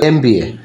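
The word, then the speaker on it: MBA: তারপরে দেখো এমবিএ, তাহলে এই যে উচ্চারণ আসছে কি এ, আমরা বসাবো কি এন।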